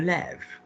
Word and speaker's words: lève: Now say je me lève. Je me lève. Great, because lève has now got the accent on it, so it's pronounced differently.